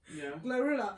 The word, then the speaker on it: GloRilla: Say I say like bro Glorilla.